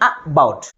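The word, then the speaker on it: about: Which syllable is pronounced with greater force comparing with other syllable? That is second syllable.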